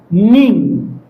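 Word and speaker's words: knee: الاتش شولدا طيب ركبه نين نين هذا الك ما ينطق نين كور البو البو اصبع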